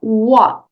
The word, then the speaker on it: what: Nessa frase aqui, a letra T, você não precisa nem pronunciar. Olha só, what?